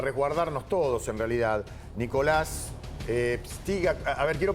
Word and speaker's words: Pstyga: Nicolás, ehtiga, a ver, quiero pronunciar bien tu nombre, Nico, ¿cómo estás?